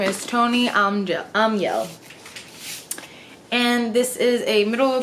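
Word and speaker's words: Tone Almhjell: Hello, my name is Tony Aumiel, and I wrote The Twist Rose Key. Okay, her name is Tony Aumiel.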